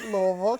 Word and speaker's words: Louisville: I'll say it properly, Louisville, Kentucky.